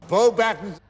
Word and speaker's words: Beauxbatons: It's the Beauxbatons Carriage Arrival at Hogwarts set, or as the actor for Dumbledore pronounced it, Beauxbatons.